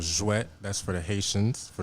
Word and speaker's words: Jouet: Just to let you know, I was saying J-Wet. And Jouet. that's surely not how you pronounce it. Jouet. Jouet, yes. Perfect. And what's that about?